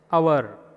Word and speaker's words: hour: Though H is present, we won't pronounce H. Our.